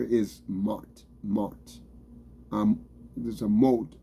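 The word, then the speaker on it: מוט: There's a moat. Like a, it's a moat. Like you say, M-O-T-E, moat. That's what it pronounced. That's what it's pronounced. It's spelled mot. M-O-T. But the pronunciation is M-O-T-E, moat.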